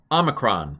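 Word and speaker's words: όμικρον: This is some variation in how people pronounce it. Probably O. A short O is probably right. You'll hear me slip into aw. A lot of Greek teachers go with aw for Omicron, just because that way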